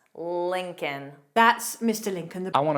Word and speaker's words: Lincoln: egg, yolk, salmon, salmon, Lincoln, kin, kin, Lincoln. So of course, the first L is pronounced. The second L is silent. Lincoln.